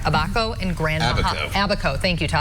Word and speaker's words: Abaco: I'm not sure how to pronounce Abaco in Grand Bahama.